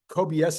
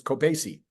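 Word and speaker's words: Kobeissi: pronounce k o b i s SII letter kobs is how I'm pronouncing it no the I looked in that pronounce thing on Google and it says it's cobasi so from now on I'll try to remember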